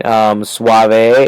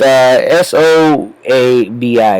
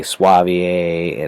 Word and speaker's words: Soavi: Soavi is Soavi, it's Soabi, Soavi, I think is how you pronounce it. I could be very wrong. I've heard lots of different pronunciations on that one. I've heard someone say Soavier and Sovier and things like that. So I'm not 100% on that one. I'm going with Soavi.